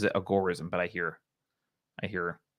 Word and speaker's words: agorism: practicing too much algorithm or i think he pronounces it agorism but i hear i hear both both ways